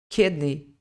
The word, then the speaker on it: kidney: fala le Lever Lever kidney kidney Então não é um k como se fosse um I do português é mais mais parecido com o e Lever kidney Show in